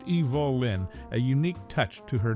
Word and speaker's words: Evelyn: Hollywood's cinematic history notably her first name was pronounced Evol Lin a unique touch to